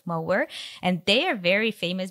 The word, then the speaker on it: Moher: So it's spelled like Moher, but what I learned is the Irish pronunciation would be the Cliffs of Moher, and they are very famous because they were portrayed like in several movies, Harry Potter included.